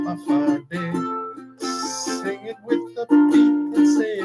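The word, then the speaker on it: Hawaiʻi: 8 islands, I know you have heard, spelled Hafadi. It's as easy as 1, 2, 3. Just pronounce it as a Hafade.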